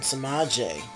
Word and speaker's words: Sema'J: And him and Sema'J, as that's his name, Sema'J is James, pronounced backwards.